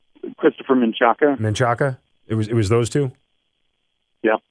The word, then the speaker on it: Menchaca: do you say his last name Christopher menchaca man Shaka it was those two yeah okay but that